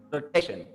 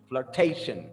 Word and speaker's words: flirtation: Let's try the same rule with this word right here, flirtation, flirtation. So we stress the T before the shan, which is the syllable before the last, all right?